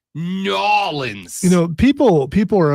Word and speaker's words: New Orleans: intentionally no no no it's not New Orleans we prefer you say it norleans you know people people